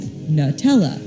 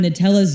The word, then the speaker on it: Nutella: Plus, there's nuts in it, and we can say nut with a short U. But there has clearly been some major controversy in how to pronounce Nutella. On Nutella's US frequently asked question page, it's pronounced Nutella.